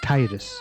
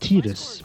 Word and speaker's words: Tidus: futuristic city, and this is our main character, Tidus. One thing that's weird, everybody, including myself, thought that his name was pronounced Tidus.